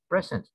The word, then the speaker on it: present: one know present uh the first uh uh accent is in the first the accent is in the first syllable present it means gift just like the presence